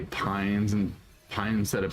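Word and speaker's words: Paine: wish you'd stop I'm bother you say Pines and Pie instead of pain even though I know it's the correct pronunciate I know it feels so weird to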